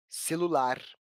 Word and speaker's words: celular: Se pronunciarmos essa palavra em voz alta, vamos perceber que a sílaba lar aparece com mais clareza, celular.